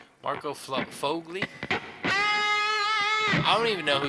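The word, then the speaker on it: Sfogli: The S is silent. Fogli. Marco Fogli.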